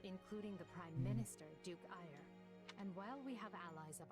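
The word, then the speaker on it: Aegir: of influential nobles including the prime minister duke ire and while we have allies that's pronounced fire a-e-g-i-r here at the academy their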